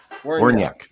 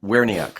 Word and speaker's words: Werniak: Werniak. Okay. I didn't know that either. I would have said Werniak. I would have pronounced each vowel, but it's kind of blended.